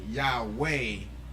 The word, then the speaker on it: Yahweh: attention graviton I believe is written y-h-w-h and then they pronounce it Yahweh they're putting the e in it and um and our